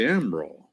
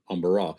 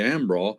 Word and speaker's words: Embarras: Well, we lived on one called the we call it the Ambro. But it was spelled embarrass. The French would have probably said amber. Umbara. They would not have pronounced the s's on the end. You see, there were two of them. And I used to ask the old fellas at home, the old men, why do they call it the it looks like spelled like embarrassed, but it we say amraw.